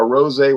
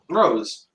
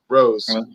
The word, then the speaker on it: Wild Irish Rose: It's like a rosé wine. You can see how. So is it pronounced Wild Irish Rose or Wild Irish Rosé? Rose. Rose. Okay.